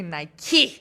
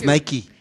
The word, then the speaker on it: Nike: nille to say film in I've always said Nike my whole life but we will try to say Nike yeah than Nike and it is my preferred brand so maybe